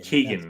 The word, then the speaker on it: Keoghan: How do you say the actor's last? Barry Conan or something like that. He was in Eternals. He was the boy from the Eternals. Yeah, so I mean, he's in Marvel in a DC movie. Look at that. So the Rock Barry Keoghan. Keoghan, that's how you say it. Keoghan, but it's like Keogh.